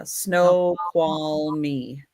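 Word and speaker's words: Snoqualmie: Snowqual me. That's how you pronounce that one.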